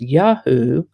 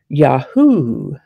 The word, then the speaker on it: Yahoo: Yahoo is a noun that can be pronounced Yahoo or Yahoo.